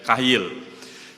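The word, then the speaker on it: חיל: nah dalam bahasa ibraninya menggunakan kata Kyle foto-foto tulisannya chail chaiya2 bacanya Kyle Kyle itu ditulis di dalam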